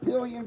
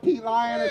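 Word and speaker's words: Pelion: Is that one of those ones they pronounce it pillion, but if you like, lion. Yeah, if you're from me up north, yeah. You would call it pea lion.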